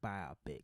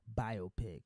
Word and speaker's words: biopic: hollywood box just kidding don't like the word biopic it's biopic just to say it like it is anyway yeah so coming